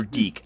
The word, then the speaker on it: DiC: adaptations and of course the cartoon series from dick or deke I don't know how you pronounce it di see it's pronounced deke deke